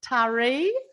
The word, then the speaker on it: Taree: in i don't want to say it wrong taree that's right oh yeah that's the key mid